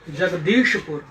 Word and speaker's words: जगदीशपुर: इसका उच्चारण होगा जगदीशपुर। जगदीशपुर, श, तालाबे श है, श।